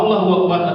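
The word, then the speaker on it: الله أكبر: di mana antara hu dengan akbar terdapat kata wau. Di sinilah artinya akan berbeda. Kalau Allahu Akbar artinya Allah maha besar. Kalau Allahu Akbar artinya Allah dan maha besar.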